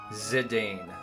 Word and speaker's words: Zidane: In the games where he talks, it's Zidon. Zidon. Zidon. Really? Zidon. Yes. Correct. Z like Zit and then Dane like the dog. Zidane.